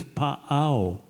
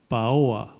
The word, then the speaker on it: Paoa: Oh, and by the way, the name of the kahuna, big-time kahuna, was in history rendered as pa'ao. But I'm told that's a mispronunciation and a misspelling of the name Paoa.